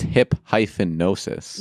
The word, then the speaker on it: Hipgnosis: not pronouncing this right, Hypnosis Song Fund. And it's pronounced hip-nosis. No, it's spelled very strange. HIPGNOSIS.